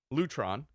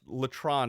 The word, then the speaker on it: Lutron: was the CEO okay so that was Lutron Lutron I guess Letran is not proper it's a family-owned